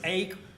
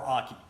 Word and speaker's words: Ake: Whether it's Ach or AI, I've heard it pronounced both ways. I'm going to call it Ach.